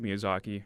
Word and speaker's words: Miyazaki: Miyazaki? Yeah, Hayao. Um Hayao. Hopefully I'm pronouncing things correctly.